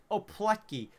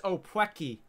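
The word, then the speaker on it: opłatki: But I told you, bro, that letter has to be pronounced as a W, and then their actual W's are pronounced like a V. But I literally, like, that letter, you know, I put it in a translation thing. It's opwecki. Opwecki.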